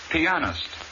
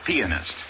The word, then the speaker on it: pianist: concerto in superb style the word pianist not pianist like peanut accent is on the second syllable number 10 the district